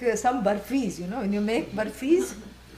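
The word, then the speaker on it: बर्फ़ी: burfis, when you make burfis. And please don't say barfi, okay? That has a different meaning.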